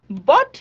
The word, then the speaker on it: bought: very good my mother bought me a new dress you see again G HT but G and H